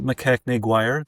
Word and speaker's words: MacKechnie-Guire: Okay, so today we are joined by Russell MacKechnie-Guire.